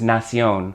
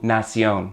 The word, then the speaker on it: nación: The word for nation in Spanish is nación. Same word basically, but not exactly. In this case, the TION at the end of nation becomes a CION with an accent on the O to give you nación.